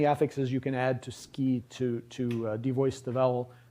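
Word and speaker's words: 好き: word for like uh and it's pronounced ki ski so the uh isn't for you can't you don't say suki unless you're being very slow and careful and it's still a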